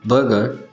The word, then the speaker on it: burgher: बर्गर, बर्गर, दोनों words के pronunciation same है।